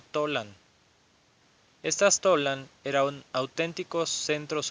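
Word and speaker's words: Tollan: que había muchas dudas o mejor pronunciado tolán estas talan eran auténticos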